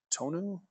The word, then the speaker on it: Tonu: So if you do have questions, I would contact Tonu. Is that how you say his name? Tonu. Yep, Tonu Mick.